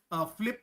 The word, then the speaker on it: PhyLPT: But T is silent, so it is a tongue twister, which is Flip.